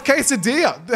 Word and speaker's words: quesadilla: Oh, it's quesadilla.